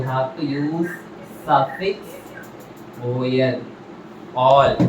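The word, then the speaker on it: -ol: All. OL you should pronounce it as all.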